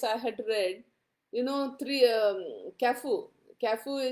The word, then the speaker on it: Carrefour: Cafu is spelled as Carrefour.